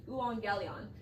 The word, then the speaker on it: euangelion: was worth it to actually put the pronunciation phonetically in the text. So the euangelion is the word that is translated the gospel. Now, if you're going to strictly translate it into English, euangelion means what?